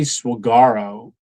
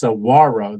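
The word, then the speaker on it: Saguaro: Um, so I always say Swagaro and it's Sawarro. The G is silent.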